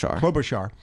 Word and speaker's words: Klobuchar: You said Klobuchar, as pardon me, pronounce her last name. Klobuchar.